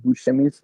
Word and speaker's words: Buscemi: I was gonna ask, is it Steve Buscemi's character? Well, how you say his last name? I probably butchered Oh, his Steve last name, but Buscemi.